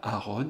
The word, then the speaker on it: Aaron: Donc, dans la mesure où les parents, comme l'élève, prononçaient en 2 syllabes, Aaron, eh bien, ces 2 A font partie de la même syllabe.